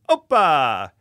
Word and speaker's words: OPA: about this Opa though it's pronounced the same oppa I'm talking about this